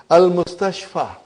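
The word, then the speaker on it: المستشفى: It is ya, but it is pronounced as alif.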